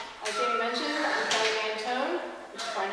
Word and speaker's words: Mantoan: As Jamie mentioned, I'm Kelly Mantoan, which is probably not how you thought about pronouncing it when you read my name.